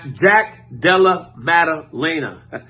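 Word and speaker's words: Jack Della Maddalena: real deal Jack Delaware Jack Della madalaina that's how you say his name knocking out Randy Brown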